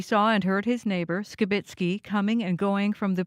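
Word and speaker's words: Skibicki: You might notice we are pronouncing Skibitsky's name differently. CBC has learned in court the pronunciation is Skibitsky.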